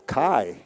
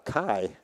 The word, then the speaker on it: Key: or 20 years, and name was Paul Kai, and it was spelled K-E-Y. He went by Paul Kai.